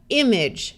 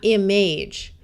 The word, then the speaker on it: image: two syllables or longer AG g e usually schwas rather than sounding like age with a clear long a sound it will tend to sound more like IG like it has a short I remember that g followed